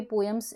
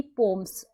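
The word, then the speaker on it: poems: यहाँ पे मैंने बोला पोएम्स, यहाँ पे पोएम्स एज यूजुअल सभी बोलते हैं, इट्स a pronunciation is wrong, like it will be पोम्स.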